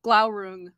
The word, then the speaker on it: Glaurung: Is it, you said it earlier, what's Glaurung? The one with that ring? Glaurung? Glaurung.